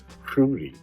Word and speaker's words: Roody: let's remake tobacco Rudy you're supposed to pronounce it like in a Hispanic roll your tongue Rudy tobacco Rudy that was